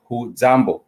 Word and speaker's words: hujambo: say for example but the proper way to say it it's simply who jambo who jumbo and i just let